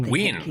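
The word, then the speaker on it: Wynne: I thought you win. That's her name. I've always pronounced it as Wayne.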